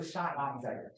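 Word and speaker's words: sinh: Wait, how do I pronounce? Sine. Can we agree that it's sine? No, shine.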